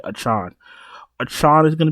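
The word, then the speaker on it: Achane: um how the did he want us to pronounce his name again ah a Tron that's right achon a child is going to be popular we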